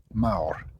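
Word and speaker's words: mawr: a ooh sound so m a w r remember every letter is pronounced Mao money yeah um over here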